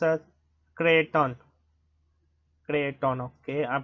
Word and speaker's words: Creighton: Okay, it's pronounced as Clinton. Clinton, okay, I'm pronouncing it wrong. Yeah, Clinton.